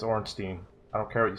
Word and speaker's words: Ornstein: I've been talking about that's Ornstein Orenstein Orange Dean it's Ornstein I don't care what